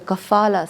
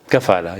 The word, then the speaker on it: kafala: attention to the the cfala system did I say it right cfala kafala yes kafala now kafala is a